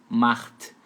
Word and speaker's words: macht: CH você vai fazer meio rasgadinho assim, macht.